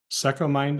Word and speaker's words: Secomind: You mentioned you've started several companies, but you're currently the CEO of, is it pronounced Secomind? It's kind of like Second Mind without the D.